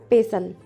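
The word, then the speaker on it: pestle: मूसल को बोलते हैं पेसल पेसल इसमें टी साइलेंट होता है मठनी चर्नर चर्नर फेंटनी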